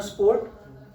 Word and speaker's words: support: You know सपोर्ट, SPORT नहीं, SUPPORT।